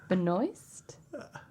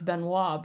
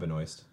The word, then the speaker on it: Benoist: like B moist oh normally I would say it's Beno but that's not how you spell that there's an s in there you're right it's probably Benoist um she was in